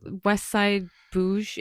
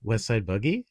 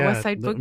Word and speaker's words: Westside Boogie: West Westside Bougj. Is that how you say his name? Westside Boogie. Boogie. Yeah, Westside Boogie.